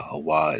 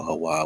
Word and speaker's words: HAWAH: that document showing how HAWAH is the oldest name, ancient name of the creator. And you can spell HAWAH with an H-O-A or H-U-A or H-A-W-A. Like, all these are phonetically the same sound.